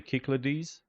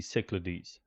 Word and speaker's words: Cyclades: In if we go closer to the original Greek pronunciation, we say Cyclades, and more anglicized would be Cyclades.